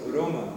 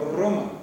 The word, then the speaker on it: Roma: Se dice Roma, no Roma. Nosotros decimos Roma, ellos dicen Roma.